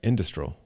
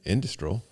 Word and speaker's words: industrial: couldn't do it but I was saying industral and you know that's the way that it's written industrial and they're like huh you're just not including the ey in there yeah industrial yeah uh